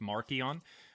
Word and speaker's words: Marcion: is published by Marcion, whose name is pronounced Markion.